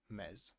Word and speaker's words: Ms.: So, when you don't know, when you want to be saved, you call them miss. The pronunciation is mess.